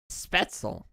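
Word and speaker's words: Spätzle: Spettzel.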